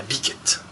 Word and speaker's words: Bikette: construit dans une bergerie la biquette voilà s'est prononcé à la française on est en france